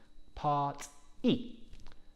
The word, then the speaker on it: party: to pronouncing this word there is a sharp e at the end part e so not part y